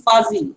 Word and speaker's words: fuzzy: can you scroll up not fuji it is fuzzy fuse also double z one fuzzy the pronunciation is fuzzy now tell no sir